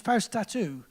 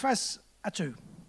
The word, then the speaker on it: Fausatu: I added an extra T by mistake, and I pronounced the name as FAUSATU, which is quite an interesting name, but it's not the right name. It's FAUSATU.